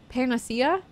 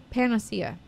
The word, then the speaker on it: panacea: for a miraculous p Pia how do you pronounce that Pia pania pania very nice Panacea Panacea miraculous Panacea there you they start out recording